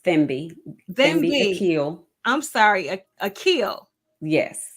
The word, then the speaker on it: Thembi Aquil: evening with us thank you and it's it's pronounced themi ail I'm sorry a ail yes okay then be